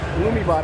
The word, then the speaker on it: Illumibot: Anybody could take this Lumiot. I'm pronouncing that right?